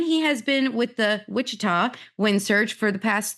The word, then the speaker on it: Wichita: And that is because Ben is from the Wichita.